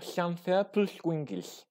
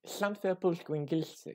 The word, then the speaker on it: Llanfairpwllgwyngyll: Il faut savoir que donc, le double L en gallois, c'est donc le fameux son hl, qui est retranscrit le